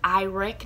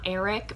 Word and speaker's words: Iric: i mean i like spelled like your eyeball and then rick and i was like